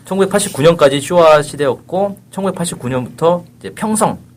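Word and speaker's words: 平成: 쇼아 시대였고 1989년부터 이제 평성 일본말로 헤이세이 그래서 지금 뭐 올해가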